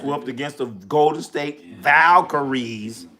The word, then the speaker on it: Valkyries: Caitlyn Clark got her ass whooped against the Golden State Valkyries. Valkareies. Three syllables.